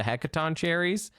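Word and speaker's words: Hecatoncheires: The Hecaton cherries. That's correct. That's if you're wondering about the pronunciation there, I actually nailed that 100%.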